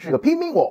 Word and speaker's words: Himiko: The Chinese pronunciation of Himiko in the Han Dynasty is pimingho And in Old Japanese, the sun read pi.